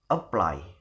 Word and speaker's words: apply: So how to pronounce it is apply, apply, not apply, but apply.